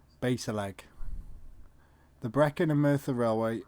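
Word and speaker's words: Bassaleg: the name romney junction it was often pronounced base a leg the brecken and martha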